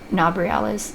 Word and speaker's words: Nabriales: You can only target Nabriales, is how you pronounce that.